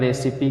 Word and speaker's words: recipe: इन तीनों शब्दों में फिनाली मतलब तो उपसंहार, इन तीनों शब्दों में छोटी ई का मतलब लास्ट में आने वाले ई का छोटी होता है, और तीन शब्दों में और कहीं भी ई का उच्चारण नहीं होता है, लास्ट में आता है।